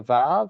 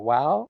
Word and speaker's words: vav: There's a couple of them which are sometimes found in partnership with a vav or a wow. I'll say vav because that's what I've been saying for 40 plus years.